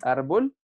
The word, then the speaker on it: árbol: Ya sé que árbol es grave, todas son graves, pero vamos a reiterar porque lleva el acento en ar, ¿cierto?